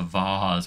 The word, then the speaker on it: vase: that's a that's a vase with a long a if ever I've seen one that's just that's pure fanciness and maybe that's what differentiates a vase from a BOS these are vases these